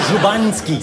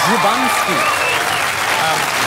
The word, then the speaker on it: Szubanski: But the best way into it is to pretend you're Dracula. Right. And you go Magda Szubanski. Magda Szubanski. See, you got it. I got it. Magda Szubanski.